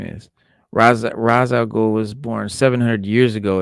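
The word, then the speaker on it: Ra's al Ghul: In fact, they as spell it Rachel, sometimes RA''S, like as in Raz, like RA''S, Raz al It's Ghul. Rachel Ghoul, it's Rachel Ghoul.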